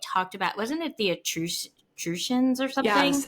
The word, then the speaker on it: Etruscan: about, wasn't it the Etruscans or something? Yes, excrucians. Yeah. And it felt, I don't know how to pronounce that. It felt, I think it's excrucian. I think that's what it is. It's Etruscan.